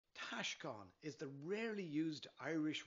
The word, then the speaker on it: Taoscán: The first syllable is pronounced tash, like cash, and the second syllable is con, as in lawn. Put it all together now. Taoscan. Taoscan.